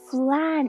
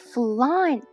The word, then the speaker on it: flan: Yes, fear, I knew it was flan, not flan. It's spelt wrong. It's F-L-A-N. That's flan.